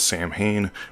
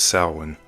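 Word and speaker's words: Samhain: Some pronounce this as Sam Hayne, but its Gaelic pronunciation is sin.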